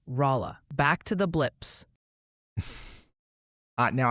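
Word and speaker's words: Rolla: Oh, and the pronunciation patrol wanted me to gently mention that Rala, Missouri might sound more like Raa.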